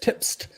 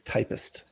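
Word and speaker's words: Typst: issues I haven't tried do you pronounce it typist or tip typist so when saw it uh and read it I read tips but I've been assured that it is typist oh okay well I'm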